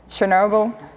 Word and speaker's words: Chernobyl: Chernobyl?